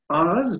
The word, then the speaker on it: hour: many hours are there in a day so ours because it's spelled as ours and not h o u